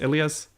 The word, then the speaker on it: Elias: character first which is alias or Elias I don't know the show you know in the show he's pronounced Elias so I'm calling him that I mean I wish